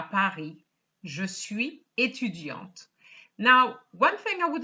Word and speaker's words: étudiante: Étudiante here has an E and it's étudiante. So we pronounce the T because it's feminine.